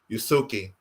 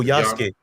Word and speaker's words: Yasuke: Forgive me if I don't pronounce it right. Yusuke, the Black Samurai. Oh, Yasuke. Yasuke.